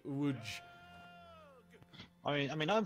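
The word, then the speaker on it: Łódź: letters L o DZ it's not pronounced Lots it's it's pronounced more like wood I mean I mean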